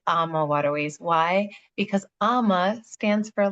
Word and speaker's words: AmaWaterways: I always like to start off saying, how do you even pronounce the name of our company? Is it AmaWaterways, AmaWaterways, or AmaWaterways? And it's AmaWaterways.